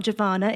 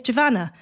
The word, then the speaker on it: Giovanna: tv i'm always giovanna my name's not javana it's javanna but no you know